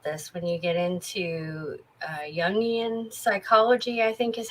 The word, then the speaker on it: Jungian: When you get into Jungian psychology, I think is how it's pronounced.